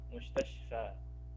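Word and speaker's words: مستشفى: Tapi bacanya nggak panjang, Ustaz. Mustasfa gitu aja, Ustaz. Bacanya sama aja dengan alif mamdudah, mustashfa. Enggak, panjangnya cuma ya dua itu aja, cuma mat, satu mat aja.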